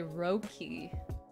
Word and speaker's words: Rookie: much for the resub rookie is actually roki rookie rookie i feel